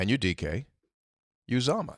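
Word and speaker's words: Anudike-Uzomah: Well, let's take a look at the pronunciation. He's a problem. His name is Anudike, which is very easy. Yeah. Anudike Uzama.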